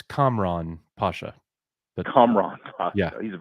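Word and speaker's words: Kamran Pasha: you said it correctly it's it's uh it's Camron Pasha the comrad yeah he's a very smart fella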